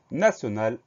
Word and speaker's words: national: En fait, c'est comme dans nation, comme la syllabe sion de nation, c'est-à-dire qu'on va mettre T-I-O-N. Donc N-A-T-I-O-N, et la fin du mot al, A-L. Donc on fait simplement attention à ce son qui s'écrit avec un T, sinon pour le reste, tout va bien.